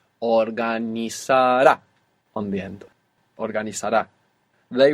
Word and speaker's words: organizará: So the useful thing about the accent being on this ending is that we don't have to worry about where the accent goes when we're pronouncing the whole verb. Organizará on the end.